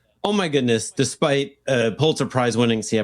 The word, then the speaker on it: Pulitzer: You know, the ESPN report looks like the NBA's, like the report basically said, oh my goodness, despite Pulitzer Prize winning, see, I pronounced it correctly, podcast Thank you.